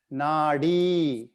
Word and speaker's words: nadi: e pattern okay this is a d as in dog this one nadi now some of you are saying the as in th e it's a d as in dog nadi uh are you guys